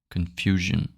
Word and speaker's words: confusion: And when there's an S between two vowels, in French it's pronounced like a Z, not like a J. You know. Example: in English you say vision. You know, we say vision. Illusion, illusion. Confusion, confusion. Invasion, invasion. Z, the Z, not the J.